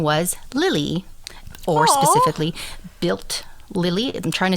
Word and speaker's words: Bild: It's B-I-L-D. Okay. Lily. But when I do the little translation thing, it's very much like built, kind of like a T sound.